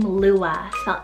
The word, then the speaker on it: Lua: refuge another girly l name it's the name lua l-u-a i think this is so pretty for